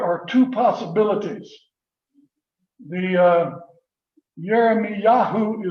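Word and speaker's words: ירמיהו: two possibilities the uh jeremy yahoo is how it is pronounced in hebrew i don't know if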